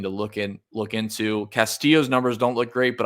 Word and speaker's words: Castillo: going to UF I should say um Ricky Castillo that's how you pronounce it at 6600 certainly playable um terrible